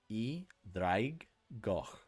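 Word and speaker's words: Draig Goch: I think it is pronounced Draiggoch, right? Because E is a Y sound, Draig, and Goch.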